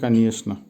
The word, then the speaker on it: конечно: যদি এখানে চে আসে কিন্তু উচ্চারণটা হবে конечно।